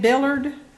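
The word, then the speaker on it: Billeaud: Ed Billard, B-I-L-L-E-A-U-D or? Ah, okay, there you go. Hi, thank you. Ed, it's spelled B-I-L-L-E-A-U-D. U-D, okay.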